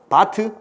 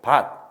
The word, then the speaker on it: 밭: 꽃, 바트, 아프 이렇게 읽습니까? 꽃, 나즈, 나끝이 이렇게 읽어? 아니잖아. 그지? 낫, 꽃, 밭, 앞이라고 읽습니다. 그죠?